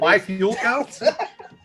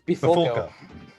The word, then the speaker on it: Bifulco: And my last name is a Bifulco to pronounce. No, that's not Bifulco? It's Bifulco.